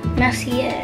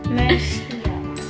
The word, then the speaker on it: Mercier: That's how you pronounce it. Mercier. Mercier.